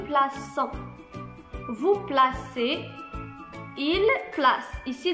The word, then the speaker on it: plaçons: Je place, tu places, il place, Ici, si on n'a pas ajouté le cécidi, on va prononcer ici nos plaquants. Très bien, parce qu'on a un O. Et ici, on veut, selon la règle, on veut préserver le son S. Très bien, donc on a ajouté le cécidi. On va la prononcer nous plaçons.